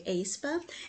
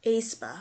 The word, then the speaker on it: aespa: I just want to say AE and then the spa, but Aespa, I'll do that for now.